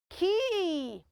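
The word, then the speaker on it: quay: the Sheep now remember I spelled it as q-u a y that word is not pronounced all right it is pronounced as Ki somebody's wondering is it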